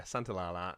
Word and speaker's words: Santaolalla: I had to listen to his show early today to say how to pronounce the last part. But yeah, Santaolalla is there, and terrific job he does indeed.